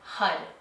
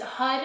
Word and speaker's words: Har: to the mantra tantric hud. And this is Hud is spelled H A R. Um it's a Sanskrit mantra and it's pronounced Hud. So, it's it's spelled like har, but it's it's pronounced hud.